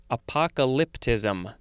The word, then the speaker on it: apocalyptism: have apocalypticism or apocalyptism that is a weird word to say because the emphasis on the syllables at the end gets real funky apocalyptism uh it is a